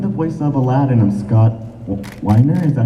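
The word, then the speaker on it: Scott Weinger: I was wondering, how come the voice of Aladdin of Scott Weiner, is that how you pronounce it?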